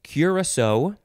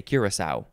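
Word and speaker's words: Curaçao: curably interesting next is you can say curacao curacao or just curacao or curacao and that's or you can emphasize the last syllable more so curacao curacao i always just say curacao c-u-r-a-c-a-o and there is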